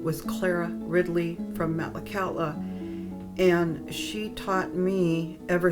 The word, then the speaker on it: Maxlaxaala: The name Metlakatla is just, well, it came from old Metlakatla, BC, and Metlakatla is pronounced Metlakatla. That means a real quiet channel, just the opposite of what you see here.